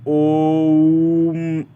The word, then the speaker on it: ओम: उच्चारण करना है और ओम का उच्चारण भी तोड़ के करना है जैसे कि ओम ऐसे करके करना है ओ से उ फिर म और म का उच्चारण ज्यादा देर तक होना चाहिए ठीक है ये मैं